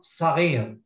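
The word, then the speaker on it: صغير: Sagir, which is written with sad.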